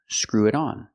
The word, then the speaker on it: screw it on: pronunciation screw it on screw it on you hear that t and it Chang to a fast D because it's between vowels screw it on not